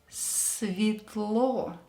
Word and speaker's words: Светло: Pay attention to the S letter. I heard it pronounced as Z. It's S. Светло. Светло. And of course, E is not stressed, so we will pronounce it as E.